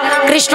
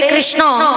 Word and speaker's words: কৃষ্ণ: ইস্কনে আমেরিকার মানুষেরা যারা কৃষ্ণ নাম করতে পারে না, উচ্চারণ করতে পারে না স্পষ্ট ভাবে, আমরা যেমন বলতে পারি হরে কৃষ্ণ, কিন্তু তারা বলতে পারে না। তারা কি বলে? হরে কৃষ্ণা, উচ্চারণ করতে পারে না।